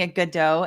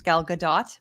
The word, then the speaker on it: Gal Gadot: Gal Gadot I know we we've been pronouncing a good dough and and I was I was corrected by the chat that is Gal Gadot with a t um which sounds just